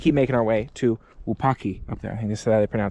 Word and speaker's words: Wupatki: And we're just going to keep making our way to Wupatki up there. I think this is how they pronounce it. The T is silent, pretty much.